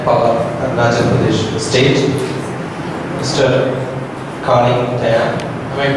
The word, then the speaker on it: Kaling Tayeng: Kaling Tayeng. Am I pronouncing it right?